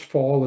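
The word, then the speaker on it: Pfahl: So it's pronounced fall as in fall down or the season.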